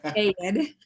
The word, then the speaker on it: Fayed: It's Fayed.